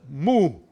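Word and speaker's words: 沐: water like that okay now water and tree together so you you pronounce it as a move okay because that's moved you say move but what does that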